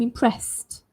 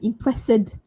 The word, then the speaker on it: impressed: You should hear the st sound. I'm impressed. Not I'm impressed.